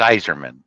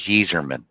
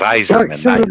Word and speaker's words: Yzerman: would think it was Yzerman. Thank you, Benji. It was spelled with a Y, but it's pronounced with an I. That's why it was Iserman, not Yzerman.